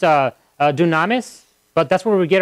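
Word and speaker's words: δύναμις: that word mean in Greek you know it's pronounced uh dunamis but that's where we get our word for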